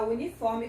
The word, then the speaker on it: uniform: Por exemplo, uniform. A palavra uniforme começa com a vogal U, mas esse U tem o som de U, uniform, que é o som da consoante Y, a consoante Y, ok?